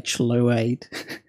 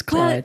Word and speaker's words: Chluaid: But it's Chluaid, and it's pronounced Chluaid. No, it's pronounced Clyde. Pretty much everybody who sees it without knowing how it's pronounced, unless they're Scottish and they know a little bit of Gaelic. They'll just say Chluaid, but it's Clyde.